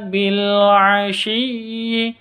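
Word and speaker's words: بِالْعَشِيِّ: bihamdiabbika Bil asii alif lam Qariah tandanya sukun Bil jadi alif lam itu semua alif lam tidak boleh ditawaludkan cara membacanya bila tidak boleh seperti itu ya Yang betul bilasii ditekan dulu baru dikeluarkan dilepas bersamaan dengan mengucapkan A atau bersamaan dengan mengucapkan huruf selanjutnya begitu ini juga Wal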